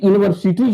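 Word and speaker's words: university: यह यूनिवर्सिटी जो है इसका आप देख रहे हैं कि यू शब्द है। लेकिन इसका उच्चारण क्या होता है? यू होता है। इसलिए ये 2024 में आया था। तो इसके लिए हम लोग क्या करेंगे? एन यूनिवर्सिटी नहीं होगा। यू नहीं होता है। माने इसका उच्चारण इ य यू होता है।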